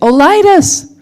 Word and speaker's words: OLITUS: lightest and I asked Kurt how do you pronounce the name of the company he said you say Oh lightest so welcome we're really excited to have you